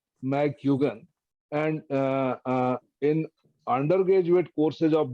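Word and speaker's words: McGuigan: You write capital M, small c. That is pronounced as Mac. So do not write MAC. M and then small c. And then GUIGAN, McGugan.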